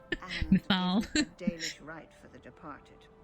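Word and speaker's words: Mythal: I finally have the pronunciation for that name. Mithal.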